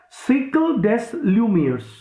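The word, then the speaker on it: siècle des Lumières: down the french term for this enlightenment is cycle des lumieres s i e c l e c cycle means cycle actually we pronounce it cycles s i e c l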